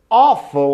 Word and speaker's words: awful: Awful, awful, olha lá um som de O fechado, olha lá, O.